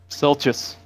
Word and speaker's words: Silchas: obviously did the best so silchus am i pronouncing this right yep silchus filch's ruin my man so explain a little